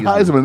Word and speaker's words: Theismann: He It's changed it Joe to rhyme with Theismann.